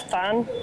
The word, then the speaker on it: Thanh: It's T-H-A-N-H, I think it's Fan. Fan, okay.